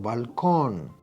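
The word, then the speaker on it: balcón: that end in n the word balcon i hope that you hear that baal right that the last syllable con is the stressed one and i hope that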